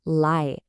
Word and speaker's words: 来: The word you need is lái, pronounced lái.